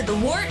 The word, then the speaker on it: The Wort: Not warts, not forts, not short.